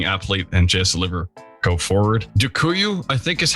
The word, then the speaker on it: Dziękuję: Dziękuję, I think is how you say it, but I'm not really sure.